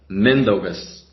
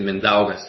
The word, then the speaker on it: Mindaugas: sort of pronounce it so it should be pronounced mendogues the surname is normally pronounced well except i don't like how people say it mindaugus it sounds a bit weird in more pressure on the letter n okay yeah okay yeah